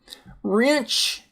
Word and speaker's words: wrench: Wrench.